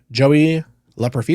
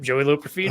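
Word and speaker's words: Joey Loperfido: both of those things we talked about um Joey La profo did I pronounce that right yep Joey L profo hey shout out to me listen that is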